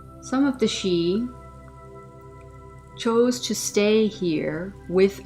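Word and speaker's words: sidhe: within and around earth some of the she this word if you're not familiar with it is spelled s-i-d-h-e some of the she chose to stay here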